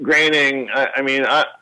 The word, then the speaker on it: Groening: Matt Groening, what a classy guy he is, And you pronounced it right.